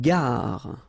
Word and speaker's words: gare: Une gare. Okay, remember when you get these G and A together, the sound is g, ga, ga. Une gare. Final not pronounced.